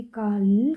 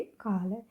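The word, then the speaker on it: කාල: यहाँ पर भी काल करके उच्चारण मत कीजिए, काल।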